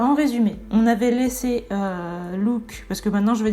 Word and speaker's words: Luke: enfin voilà c'était impressionnant qui ressemble un prénom français alors je le prononcer à la française maintenant je vais dire look parce que je me suis habitué à l'entendre comme ça et parce que je pense que c'est la prononciation qu'il faut donc look il j'ai